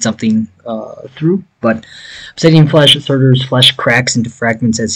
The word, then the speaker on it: Surtur: It's Surtur, I think is how it's pronounced.